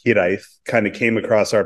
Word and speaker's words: Hiraeth: And this idea of Hiraeth, it's actually pronounced Hiraeth, kind of came across our plate really early on.